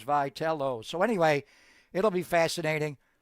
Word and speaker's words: Vitello: I mean honestly we didn't even know how to pronounce his name and it is Vital.